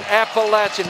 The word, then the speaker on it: Appalachian: are that I know how to say the word Appalachian. Thank it you. It is Appalachian.